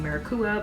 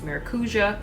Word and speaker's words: Maracuja: this tarte maracuja which I've been pronouncing marua but apparently it's maracuja creaseless concealer this is